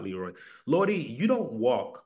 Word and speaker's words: Leroy: friends kibo says Lordi they could never pronounce my name correctly they always said Lordi not Leroy Lordi you don't walk